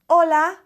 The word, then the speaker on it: hola: there's an H but we never pronounce the h when it's at the beginning of a word in espanol it's all